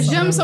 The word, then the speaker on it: Jamelson: É Jamson, mas se escreve Jamelson.